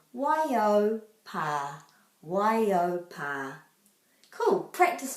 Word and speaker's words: Waiau: So you could say Waiau, but it will always turn into Y and then O. AU is always pronounced O. Waiau, Waiau pa, Waiau pa.